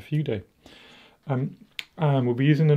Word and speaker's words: Fude: Pronounced Fude, apparently, when you shorten it down to, well, down to Fude.